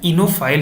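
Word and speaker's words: oenophile: बोला जाता है एनोएल ये ओ साइलेंट है इना फाइल ही बोला जाता है इसको टेक्नो फाइल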